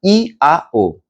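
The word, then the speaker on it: IAO: A vogal i será pronunciada e alongada. Então, e e representa Ignes, que é o fogo, este o aspecto masculino. E em seguida será pronunciada a vogal A, alongada, da mesma forma.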